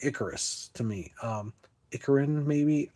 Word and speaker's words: Icarus: Oh it is Icarus.